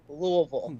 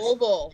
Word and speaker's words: Louisville: Derby is pronounced Louisville. Exactly. Louisville. Yes. Yes. Louisville. Like you got to kind of like swallow your tongue a little bit.